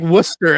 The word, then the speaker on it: Worcester: Well, it's just like Worcester out here, and or Peabody. It's it's spelled Peabody.